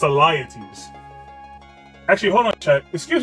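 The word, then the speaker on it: Alyattes: was telling that to eliitis who I believe was was wait was Atlantis a king Elites okay I was saying his name wrong it's a liatives actually hold on check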